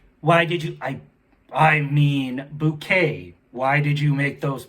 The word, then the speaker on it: Bucket: Now, be sure you spell that correct. It's B-U-C-K-E-T. And Hardfall is just spelled how Hardfall is always spelled. But Bouquet is B-U-C-K-E-T.